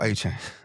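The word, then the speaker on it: Achane: Acuna? What's his name? Acuna Matata? The running back. The Dolphins. A-Chain? Oh, A-Chain. I said Unbelievable. Unbelievable. I butchered it.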